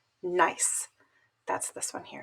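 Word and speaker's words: gneiss: the metamorphic rock called nice that's this one here it's pronounced nice so metamorphic grade refers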